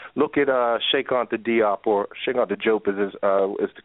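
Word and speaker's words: Cheikh Anta Diop: Look at Shekonta Diop, or Shekonta Diop is the correct way to pronounce his name.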